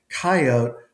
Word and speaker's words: coyote: And I think the two-cllable one, coyote, I pretty much concluded came from the mountain men, the Midwestern and southern